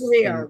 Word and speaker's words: Tahrir: Tahrir, right.